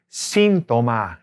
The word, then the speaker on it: síntoma: The symptom, you have a symptom, is el síntoma. Accent on the I. El síntoma.